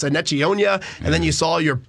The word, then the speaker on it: Enechionyia: And we were always emailing Larry Doherty before the start of the season saying, how do you say this guy's name? It's Enechionyia.